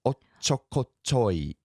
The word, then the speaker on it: おっちょこちょい: It's ochokochoi. Right. おっちょこちょい. Ochokochoi. Yeah, it's There's a little hiccup with the little tsu at the beginning.